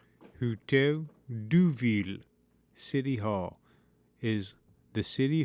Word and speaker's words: Hôtel de Ville: The Hotel de Ville, French pronunciation, Hotel de Ville, City Hall, is the